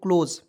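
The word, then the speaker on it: close: ल लिख देंगे और यहां देखेंगे एस ओ एस ई को उच्चारण हो जाएगा ज तो देखिए ओ से ओ लिख दीजिएगा और एसी का उच्चारण हो जाएगा ज के रूप में हो जाएगा दोस्तों क्लोज सी एल ओ एस ई क्लोज क्लियर यहां तक तो बिल्कुल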